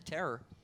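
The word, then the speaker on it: Tarrer: football name for a hard-hitting safety terror Marcus terror and it's spelled t AR AR ER but they pronounced a terror and he's brought the terror defensively for the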